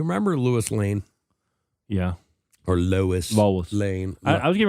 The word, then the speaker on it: Lois: Was Lewis her dad? Well, I mean Lois. Say that. Lois. Lois. Lewis. It's Louisis. Lis. It's Lois. Lois. Lois. Lois. Low. Lois. Loiz. Loiz. So, I mean, that's how it's pronounced.